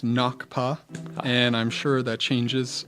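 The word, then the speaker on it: ngakpa: first of all what and correct my princess pronunciation but what is a knockaba what what sort of training what are what is an acapa and and what sort of training did you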